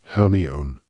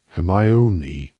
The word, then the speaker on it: Hermione: He kept calling her Hermione. Hermione, she said slowly and clearly.